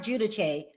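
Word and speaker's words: Giudice: Listen, Teresa Jud Judise her it's pronounced Judach in Italian.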